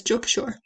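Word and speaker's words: Junk Kouture: So it's Jugchore. And in case you're wondering there, Jugchore is spelled Junkouture, right?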